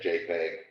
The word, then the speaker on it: JPEG: who invented it so dot jpg or uh dot jpeg usually said jpeg there's plenty enough there